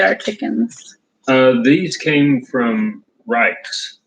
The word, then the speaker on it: Reich's: These came from Reich's. It's spelled R-E-I-C-H out of Pennsylvania.